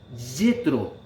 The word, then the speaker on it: Jetro: importancia de este personaje, Jetro, cuyo nombre en hebreo se pronuncia Yetro.